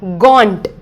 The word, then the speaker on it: gaunt: spinning of this word g-a-u-n-t this is the spelling of this word and g-a-w-n-t this is the pronunciation of this word gaunt means very thin